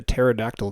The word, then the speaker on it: pterodactyl: do a dad joke why can't you hear the pterodactyl go to the toilet because the p is silent okay all right let's